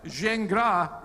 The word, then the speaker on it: Gingras: So Gingras is the correct French pronunciation.